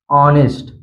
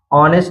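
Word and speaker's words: honest: silent रहता है जैसे ऑनेस्ट ऑनेस्ट में आप देख सकते हैं ओ से पहले यहां पर एच आया है इसलिए ए साइलेंट है सीधा पड़ गया ऑनेस्ट यानी ओ से पढ़ा गया ऑनेस्ट इसी तरह है आवर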